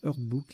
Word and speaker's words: herdbook: rien en 8 et en 9, on a Herdbook au pluriel, H-E-R-D-B-O-U, B-2-O-K, pardon. Allez, je vais vous le mettre celui-là dans les définitions. Herdbook, pardon, ça se prononce Herdbook, livre généalogique des races bovines, caprices et porcines.